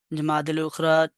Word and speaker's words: جمادی الاخری: چھٹا قمری مہینہ ہے۔ اس کا تلفظ جمادی الاولی کی مانند ہے کہ جیم پر مضموم پڑھیں گے اور اسی طرح دال کو مفتوح پڑھیں گے، اور الف خاموش ہوگا اور لام ساکن ہوگا۔ جو لام کے بعد